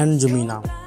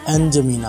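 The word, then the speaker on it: N'Djamena: chart का capital है एन जमीना आपने डी साइलेंट कर देना है ठीक जमीना पढ़ना है इसको एन जमीना ओके यह है और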